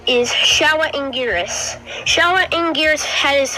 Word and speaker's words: Showa: Anyways, to continue on what he was saying, it's pronounced Showa.